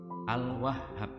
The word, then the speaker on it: Al-Wahhab: Al-Wahhab, bacanya Al-Wahhab.